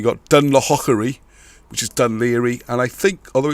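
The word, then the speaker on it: Dún Laoghaire: the spelling you got done hockery which is done Leary and I think although it's spelled Elba it's actually almost Elvis if you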